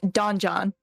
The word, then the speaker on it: Donjon: It's Don John. It is different. So it sounds just like dungeon.